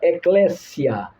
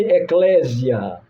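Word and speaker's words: ἐκκλησία: Vem da palavra grega ecléssia. Não chame eclésia. A pronúncia errada. Ecléssia.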